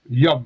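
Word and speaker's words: יום: Non, regarde le O. La voyelle est après le. Ça se prononce yom.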